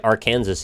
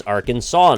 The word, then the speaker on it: Arkansas: We don't say Arkansas either, but who cares, right? Yeah, but that's like, we still say it how you could. Like, it's one silent letter.